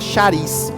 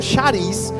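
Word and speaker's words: χάρις: É uma palavrinha grega chamada charis. Não sei se pronuncia bem assim não, mas se escreve assim, charis.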